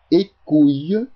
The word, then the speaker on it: Hécouye: À peine 1 semaine plus tard, un marchand du nom de Martin Écouille, prononcé Écouille, se présenta au château, clamant à qui veut l'entendre qu'il possédait ce dont le seigneur bandit Wattier de la Plaigne rêvait.